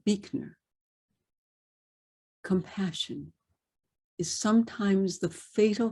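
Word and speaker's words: Buechner: and finally from frederick probably originally pronounced birdner b-u-e-c-a but become but has become anglicized to beakner compassion is sometimes the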